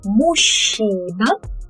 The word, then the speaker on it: мужчина: Так как я мужчина. Remember that here we say it with a sh sound.